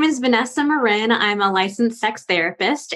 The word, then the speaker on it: Marin: with me oh and my last name is pronounced Marin that most people say Marin okay yeah only bay